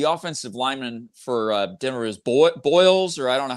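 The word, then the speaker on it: Bolles: Is Boyles, or I don't know how you say his name. Bowles.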